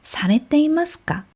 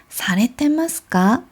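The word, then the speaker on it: されていますか: 이럴 때 보통 이 이를 빼고 발음하거나 뭐 그렇게 들리는 경우가 많이 있는데요. 그래서 보통 사레테마스까? 이렇게 들리는 경우가 많이 있어요.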